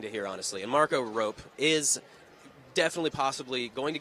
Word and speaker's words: Arop: The correct way to say it is Arop. Okay. If you want, you can roll the R too, but that's Arop.